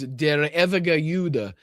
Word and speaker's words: Der ewige Jude: And we've talked about this specific propaganda video before, so I believe it's Der ewige Jude is how it's pronounced in German.